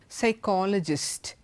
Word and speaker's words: psychologist: pronounced there it's just pneumonia psychologist P is not pronounced P is silent so in all these